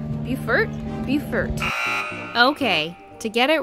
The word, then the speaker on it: Beaufort: just pulled into bulkhead dock um and not buford bufert bufert okay to get it right it's pronounced beaufort north carolina they have a courtesy car we